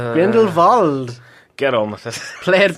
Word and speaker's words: Grindelwald: Because it's a W, but it's pronounced like a V. Grindelwald.